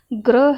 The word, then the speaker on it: ग्रह: यहाँ पर जो र वाला ग्रह है इसका उच्चारण भी ग्रह है। ठीक है, ग्रह, ऐसे ग्रह, और इसका अर्थ क्या होगा, नक्षत्र।